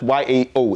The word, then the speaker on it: Yao: anything like yao and mind you even an ever when you spell it y-a-o it is still yao also the real name